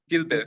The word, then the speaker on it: Gibe: Gilbe.